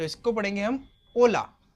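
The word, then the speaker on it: hola: जैसे कि मैंने आपको बताया था कल कि स्पेनिश लैंग्वेज में जो एच होता है आपका वो होता है साइलेंट। क्या होता है? साइलेंट। Just a second. हम तो इसको पढ़ेंगे हम ओला ओ ला में यामो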